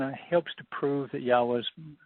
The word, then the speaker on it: Yahweh: This is, and it also kind of helps to prove that Yahweh's pronunciation, or the pronunciation of Yahweh's name is Yahweh.